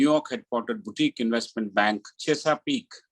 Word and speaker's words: Chesapeake: He is also associated with the New York headquartered boutique investment bank, Chesapeake. How do you pronounce that?